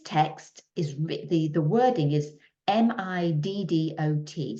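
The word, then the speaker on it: Middot: And this text is, the wording is M-I-D-D-O-T. So I'm going to pronounce that Middo, but it might be Midot 2.2.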